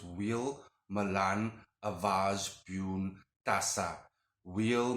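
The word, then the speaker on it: Wehl: incantation, and for the Demon Duke Bune, it's wheel. Again, you can spell it out however it sounds to you, but just to give you an idea, the wheel is W-E-H-L.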